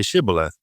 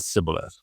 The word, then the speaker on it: Shibboleth: And when he said no, they said to him, then say Shibboleth. And he said Sibboleth, for he could not pronounce it right.